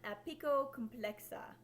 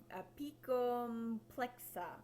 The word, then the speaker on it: Apicomplexa: Okay, next the phylum Apicocomplexa, or Apicomplexa. I'm adding an extra syllable in there, and there's not.